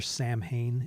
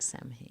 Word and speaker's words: Samhain: Like we're Sam Hain into it Halloween. looks like Sam Hain. Because Sam Hain is, well, it's They pronounced know.